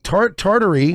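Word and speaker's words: Tartary: wasn't a made-up thing tartery or tartaria depending on if you're pronouncing it Russian or Latin is it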